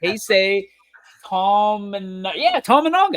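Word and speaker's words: Keisei Tominaga: I think I spelled his name right or pronounce his name right. Keisei Tamanaga.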